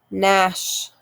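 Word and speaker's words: gnash: k n silent k nash g n silent g nash rhyme r h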